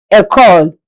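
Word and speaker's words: école: School is called a call. A call. E C O L E.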